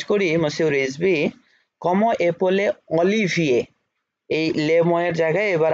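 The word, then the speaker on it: Olivier: ও এল ই এল ই ভে, ও এল ই right, এ ই ও ও এখ, এফ অলিভিয়ে, শেষে উচ্চারণটাও বলে দিবেন যে অলিভিয়ে।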